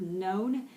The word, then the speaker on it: known: known is the Nile the word known the K is silent there okay and there are